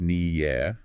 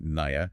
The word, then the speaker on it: Nia: Her name is pronounced Nia. Mhm. Not Niya, Nia.